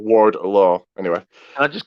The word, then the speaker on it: Wardlow: It's Wardlow. Not Warlow. Wardlow.